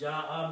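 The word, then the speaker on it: جاء: Now, this ya with the fatha can be written as an alif, because the sound is alif. Ya. And jim and ja'a. So that is what it is. Ja'a means he came.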